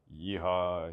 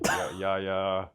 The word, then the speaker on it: Yehia: Like I used to have teachers call me Yehia, Yehia. That's so bad. Yeah, I know. The most it's like really not hard. It's just the H. it's 2 syllables, and I think it's